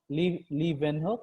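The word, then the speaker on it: Leeuwenhoek: first compound microscope by lewin hope which in some languages pronounced as leaving hook leaving who i don't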